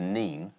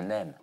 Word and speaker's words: Nene: Because the people of Peterborough, they call the river the Neen. Yeah. And the people of Northampton call it the Nen.